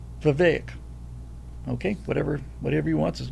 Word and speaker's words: Vivek: It's Vivek.